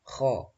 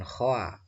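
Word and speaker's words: خ: Bunyikan saja kha, bukan khoa tapi kha.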